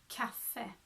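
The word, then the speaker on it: kaffe: spelled ka FF e double F there makes the a short so in Swedish we would say Cafe cafe ah cat cafe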